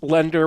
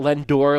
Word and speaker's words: lender: And I want to point out that it's lender with an E, not Lendor, like Brian keeps pronouncing it on the podcast. Lendor.